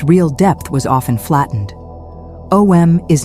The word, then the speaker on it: Om: some people say OM, while others say AUM. AUM is useful because it reveals the inner structure of the sound. It is made of 3 phonetic movements, A, U, and M. Over time, in pronunciation and common use, this becomes OM.